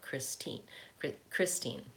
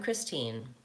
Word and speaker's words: Christine: Note, when I give my first name, in my name, the stress is on the first syllable, Christine. Chris is long, teen is short, Christine. Christine, actually. So I'm going to say Christine, second syllable stress, actually, since that's my